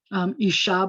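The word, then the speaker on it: אשה: syllable which is typical isha by the way accents on the last syllable bahema so behemoth is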